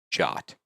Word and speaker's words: JWT: A JWT is a JSON web token, also commonly pronounced as a jot.